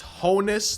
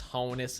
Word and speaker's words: Honus: It's Honus and not Hannes, but you know it's actually Hannes.